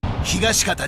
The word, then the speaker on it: Higashikata: How do you say that? Higashikata Josuke. That's it.